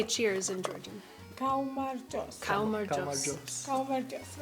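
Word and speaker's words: გაუმარჯოს: Kaumarjos.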